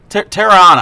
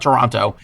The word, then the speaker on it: Tirana: Where is in relationship to the international, the Tirana International, Tirana, I think it's how you pronounce it. It's not Toronto.